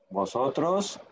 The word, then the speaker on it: vosotros: Vosotros sois. Eso, muy bien. Ailton, vosotros sois. Vosotros soy. Vosotros sois. O V se pronuncia B, né? É, como B, como B.